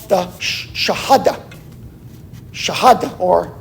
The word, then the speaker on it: Shahada: Shahada, or I used to pronounce it Shahada until I heard somebody on TV pronounce it Shahada, right?